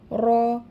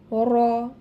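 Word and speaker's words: ر: এর মাখরাজ হচ্ছে জিহবার আগার উল্টা পিঠ তার বরাবর উপরের তালুর সাথে লাগাইয়া র উচ্চারিত হবে, এবং এটি একটু তাড়ন করে উচ্চারণ করতে হবে, অর্থাৎ জিহবার আগাটা কিন্তু একটু বেশি নাড়াচাড়া করবে বাড়ি খেয়ে।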